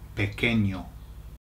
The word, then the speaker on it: pequeño: The reason is because when you get a QU in Spanish, you don't say qu, you say k, k. Okay, so it's just like a K sound.